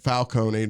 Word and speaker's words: Falcone: just I can't remember it's Carmine Falone I don't know why I keep saying Falcone I'm pretty sure it's Carmine Falcone I think I've heard somebody bothal so it just feels like I'm saying it wrong either way he's not